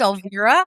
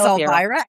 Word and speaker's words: Elvira: It's pronounced Elvira. Everyone says Alida, but it's pronounced Elvira.